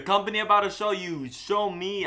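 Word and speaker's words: Xiaomi: about a show you show me I think that's how you say it does not look like the word which is X I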